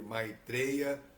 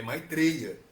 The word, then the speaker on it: Maitreya: O nosso vocabulário tem a vogal aberta, mas o sânscrito não tem. O sânscrito não é e. O não é o, é o. Então, não estou pronunciando de forma errada.